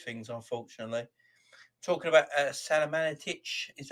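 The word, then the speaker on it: Salihamidžić: on all these things unfortunately talking about uh salamanitch is how you pronounce his name uh the sporting director at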